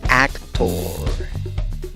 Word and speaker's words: actor: Por lo tanto, también podrías pronunciar esta palabra como actor.